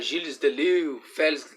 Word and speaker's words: Gilles Deleuze: Vou falar dos pós-modernos, os pós-modernistas, que também, junto com Gramsci, atua fortemente aqui, desde Michel Foucault, desde Gilles Deleuze, né? Ele é um francês, pronuncia Gilles Deleuze, Félix Guattari, esses pós-modernistas, né?